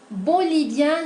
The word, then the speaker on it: bolivien: de pronunciación, comentarles que la siguiente combinación de letras I e N va a producir el sonido vocálico nasal 1, oui. Donc, on va prononcer 1 pour les masculins, bolivien, indien, péruvien, italien, brésilien, chilien, algérien et tunisien. Ese sonido de E nasal se va a hacer presente en el masculino, ¿okay?